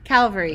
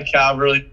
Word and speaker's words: Cavalry: Calvary, yes. My Cavalry, I can't talk.